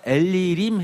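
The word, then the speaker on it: אלילים: 발음은 비슷하지만 마치 이것은 비웃는 듯합니다. 엘 뒤에 림 그 중간에 엘리를 넣어서 엘리림 해가지고 마치 더듬거리는 말처럼 해서 그 자기네들은 신들 중에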